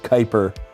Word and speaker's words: Kuiper: know just something about the word kuiper it rhymes with hyper i just don't like